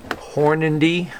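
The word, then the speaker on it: Hornady: this um number 55 ideal powder measure this horn indy i believe is how you say the name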